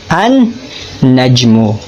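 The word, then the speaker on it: النجم: Pero nang pumasok ito sa salitang Najmun, ay hindi nabanggit o hindi nabigkas ang tunog ng lam at naging doble pa ang tunog ng unang letra.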